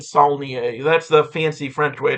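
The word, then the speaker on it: Saulnier: Uh Jeremy Sneier or Sier, however the you pronounce it, is putting out a new movie called October. I'm going to pronounce it Sneier.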